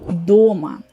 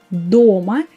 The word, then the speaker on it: до́ма: That's the word дома. As you can see, the spelling is just the same with the previous form, plural. Дома, дома. As you can see, only my pronunciation is different. Try to remember it and to make this difference, because when you say дома, it means at home.